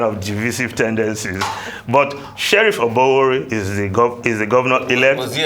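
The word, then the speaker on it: Oborevwori: So I want to get the correct pronunciation. Oborewori, yeah, that's it.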